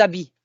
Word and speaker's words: habits: Remember that we don't pronounce H as often as in English, except in harcèlement and things like that. Mais les habits will go like that. If you hear it, they link.